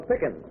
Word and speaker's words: Pickins: This is Miss Lola Pickins. Rhymes with chicken.